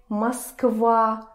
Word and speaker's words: Москва: Just remember that O is O when it's stressed. The rest is this little fellow, A. Молоко, Москва.